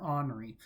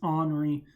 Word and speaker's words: Henri: depression fred tropical storm grace and tropical storm honoree yes that's how you pronounce it it's not henry it's henry an honoree is located just south of bermuda at the